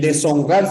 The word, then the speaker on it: deshonrar: lengua meria bien pero la sh no por lo tanto no pronunciamos de sh rar esta es una h y la H no tiene sonido recuerda que en separaciones